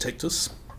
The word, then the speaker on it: Tectvs: it comes from Latin that's pronounced tactus and a definition by